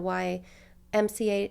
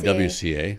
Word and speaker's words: YWCA: And how many millions of dollars went into that project, or the why MCA, I'm going to say it wrong. It's the YWCA. YWCA.